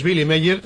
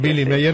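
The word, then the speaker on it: Willy Meyer: Pues Billy Meyer, se escribe con W, pero se pronuncia con B. ¿Eh? Sí, muchas gracias. Billy Meyer, lo dejamos así.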